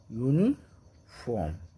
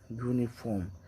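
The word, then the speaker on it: uniform: तो ए का प्रयोग यूनिफॉर्म य य य यूनि यूनि फॉर्म ठीक है यूनिफॉर्म जैसे यू नि यन यूनियन होगा इसका उचार इसलिए य य क्या है कंसोनेंट इसलिए ए का प्रयोग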